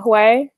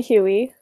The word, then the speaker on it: Huey: I just did an interview with Hugh, or Huey, as I used to pronounce his username Hui, but it's actually Huey.